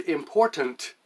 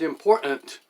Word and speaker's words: important: recent, but anyway, T, the letter T is disappearing from spoken language where it belongs. It's important. How many How many of you have heard other people talk and the word important becomes important?